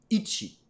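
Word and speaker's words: 一: est parti alors hein on va le dire ichi après vincent collet 2-1 facile facile le ca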